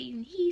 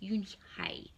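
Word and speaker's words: Unhei: Yes, some people say Eunhee, some people say Eunhai. It's pronounced Eunhai.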